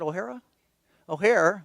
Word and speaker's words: O'Hara: We're working on Ohio now, and Trish O'Hara, how do you pronounce that? O'Hare, with a lot of consonants in the word, but O'Hare is going to try working with Victoria.